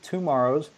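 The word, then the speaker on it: TwoMorrows: the publishers website that's tomorrow's calm it's not spelled like tomorrow it's spelled like two Morrow's TW o M o RR o WS calm back issue is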